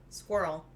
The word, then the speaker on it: squirrel: semi-final ah yes plural squirrel one one syllable more or less it is and i don't understand that one either there are definitely two syllables i pointed out once